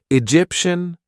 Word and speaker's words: Egyptian: all referring to places so Egyptian Martian that's from the planet Mars and Venetian from Venice in Italy so and from Egypt of course so Egyptian Mar Venetian okay so all these different spellings but they all result in shun at the end okay then we have